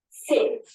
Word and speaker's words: sit: Now listen to another word. Seat. Seat. Can you hear the pronunciation? Seat. E sound. Seat. Sit. Seat. I know it can be difficult at first, but with a little bit of practice, I'm sure you will hear them differently.